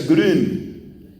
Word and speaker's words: Grün: Este hombre se llama Anselmo, su apellido es Grun, pero se pronuncia Grün, G-R-U-N, la U lleva diéresis. Ansel Grün, un monje benedictino alemán.